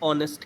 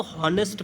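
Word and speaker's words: honest: Same इसी प्रकार का क्वेश्चन होता है ऑनेस्ट के साथ। ऑनेस्ट में भी बच्चे इसको हॉनेस्ट पढ़ते हैं। भाई गलत हो जाओगे। इन दोनों ही वर्ड के अंदर एच साइलेंट रहता है।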